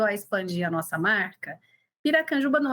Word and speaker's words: Piracanjuba: as pessoas a falarem como pronunciar Piracanjuba saí a piraçuara Pirajussara Pirajuba saiu o que você conseguir imaginar sair nós ainda éramos pequenos